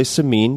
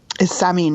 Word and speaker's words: Samin: A lot of people say Seamine because that would be English friendly, but the correct pronunciation of your full name is what? Samine. Yeah, you're going you're you've like graduated past the appropriate American pronunciation into you're going for true Persian right now.